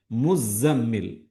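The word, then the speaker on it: ٱلْمُزَّمِّلُ: യാ അയ്യുഹൽ മുസമ്മിൽ. സ അതേപോലെ മീമിൽ രണ്ടിനും ഷദ്ദുണ്ട്. മുസമ്മിൽ എന്നാണ് ഉച്ചാരണം വേണ്ടത്. മുസമ്മിൽ.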